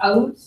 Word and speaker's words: août: Some of you may have heard this pronounced out. That is perfectly fine. That's we're speaking French with a southern accent, but it's fine. They say out down in the south of France.